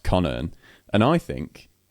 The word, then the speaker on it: Connearn: But yeah, my surname, Connearn, is a simple sounding word, but on paper, absolutely flummoxes people.